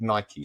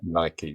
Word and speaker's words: Nike: And the other thing that you've cleared up for me as well is how to pronounce the name of that company. Is it Nike? Is it Nike? And you said Nike, so I'm assuming that is the right pronunciation for Nike.